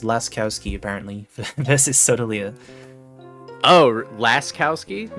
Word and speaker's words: Laskowski: It's pronounced Laskowski, apparently, versus Sotaleer.